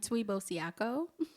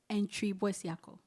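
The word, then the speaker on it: Antwi Boasiako: And okay, so this is how I pronounce it for the non-Ghanaians. And Tuibosiako. It's that's like the easier way to pronounce it, but it's actually pronounced Entribosiako. And Tuibosiako. It's like the TW is not like a twee. It's pronounced like a CHWI.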